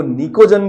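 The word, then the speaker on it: pnicogen: अगला है नाइट्रोजन family इनको निकोजन भी बोला जाता है प साइलेंट है क्योंकि ये फर्टिलाइजर के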